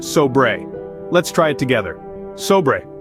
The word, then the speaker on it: sobre: It's pronounced sobre.